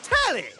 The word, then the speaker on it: Telly: The name's Tally. Rhymes with Nelly. Like, whoa, Nelly.